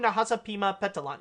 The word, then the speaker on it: Nahasapeemapetilon: subject and that is actually regarding a poor Nahasapeemapetilon or I think that's how you say your that's how you say your NIT and say say his name right that's how you say it appoo Nahasapeemapetilon okay yeah I got it I got it